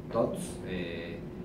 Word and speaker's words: TOTVS: de trabajo en todos de la gente se pronuncia todos entonces todos en latín y todos es una